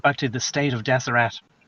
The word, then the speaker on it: Deseret: To get back to the state of Deseret. Maybe it's called Deseret, but I'll say Deseret, pronounce the T at the end.